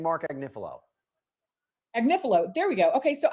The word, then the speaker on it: Agnifilo: I think right now, how do I pronounce his name? Is it We've been saying Mark Agnifilo. Agnifilo.